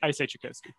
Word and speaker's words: Chiykowski: So we don't say it how any Polish person would say it now, and we're saying it wrong as a family. So I'm not going to correct anyone. I say Chiykowski.